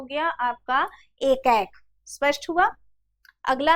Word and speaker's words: एकैक: उच्चारण पर भी आप लोग ध्यान रखेंगे, एकाएक नहीं पढ़ लेंगे, ये क्या है, एकैक है।